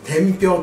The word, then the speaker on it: 天平: の時代の文化天に平らと書いて天平と呼んで天平文化と言い